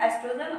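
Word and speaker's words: oestrogen: अब देखो ये ओ से स्टार्ट हो रही है स्पेलिंग, बट इसको हम बोलते क्या है, प्रोनाउंस क्या करते हैं, एस्ट्रोजन, और सेकंड क्या है, प्रोजेस्टेरोन हार्मोन।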